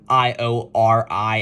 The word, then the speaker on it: Iori: actually written instead of I-O-R-I, as it's normally been written. It's here written I-Y-O-R-I, which doesn't really change the pronunciation of it at all. It's still Iori, and it even sounds